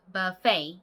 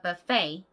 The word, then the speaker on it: buffet: 자, 먼저 배고프다의 hungry는 앞에 강세가, 그리고 be패는 뒤에 강세가 있죠. 해볼게요. I am 추격형으로 발음하실 때는 그냥 I'm 이렇게 발음하시면 됩니다. I'm hungry. I'm hungry. Let's go to a buffet.